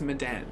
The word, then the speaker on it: Medan: Okay, so it's Medan is the way they want to pronounce it.